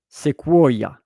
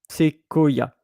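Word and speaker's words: séquoia: So in Italian, you would have pronounced this one sequoia, I think. But here in French, the QU, it's Q, sequoia, a bit like a K, by the way. So QU, que, quoi, voilà, c'est sequoia.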